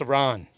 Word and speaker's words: Iran: Dude, it's pronounced Iran.